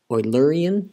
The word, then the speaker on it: Eulerian: how to say this i do know that this guy's name is leonard oiler and so it's oilurian as i believe how it's said but i will struggle